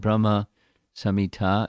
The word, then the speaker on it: Brahma Samhita: explain the verses of Brahma samita it should be with a short a not a long a although the Brahma samita